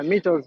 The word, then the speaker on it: Mitos: Uh I think Mitos is the right way to say your name. I'm sorry. Yeah, Mitos. Mitos is right.